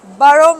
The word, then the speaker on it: Borough: Borough Market. Borough or Borough? Borough. I've been saying it wrong in the whole Borough Market.